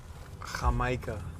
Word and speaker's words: jamaica: You know we don't pronounce the J with a J. Jamaica.